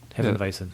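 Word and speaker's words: Hefeweizen: Well, what is the correct way to say Hefenweizen? Am I- Hefenweizen. Hefenweizen. Like a V.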